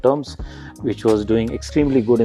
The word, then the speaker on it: Turms: decision to buy brand called terms and we we spell it like t-u-r-m-s terms terms what does it do